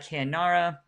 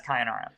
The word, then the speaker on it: Kayara: many kingdoms beside uh I should I said it wrong Kara there are manying besides kayara um so I kenara